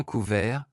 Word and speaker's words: couvert: Par exemple, pour l'adjectif masculin couvert, la consonne finale T n'est pas prononcée. Cependant, dans la forme féminine, la présence de E à la fin oblige à prononcer le ET final.